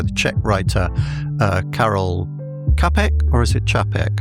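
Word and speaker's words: Čapek: 1920 play by the Czech writer uh Carol Capeek or is it Chapek? How do you pronounce Chapek?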